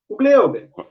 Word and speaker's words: Hugleiber: O Gleuber. Vamos lá. Ô, Rodrigo, eu só vou fazer uma correção aí, tá? Sim. Na pronúncia, o Gleuber.